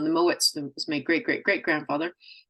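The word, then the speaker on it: Mowatt: name was spelled m o a d still pronounced Moet or muet with a Scottish accent but the English didn't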